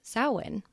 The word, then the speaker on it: Samhain: ancient Celtic bonfire Festival known as sowin and yes it totally reads like Sam Hayne uh there is a